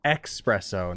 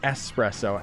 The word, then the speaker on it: espresso: of my friends because he's like expresso not espresso and it's like it's spelt espresso bra plus i don't